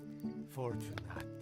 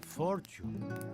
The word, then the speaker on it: Fortunate: Fortunate. Ironic, really. How do you mean? Most folk mispronounce my surname as Fortune if they see it written down.